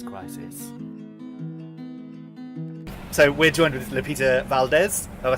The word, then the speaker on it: Lupita Valdez: So we're joined with Lupita Valdez.